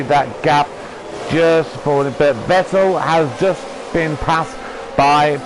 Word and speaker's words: Vettel: Or I don't know why I keep pronouncing him Vettel. It's Vettel. It's Sebastian Vettel.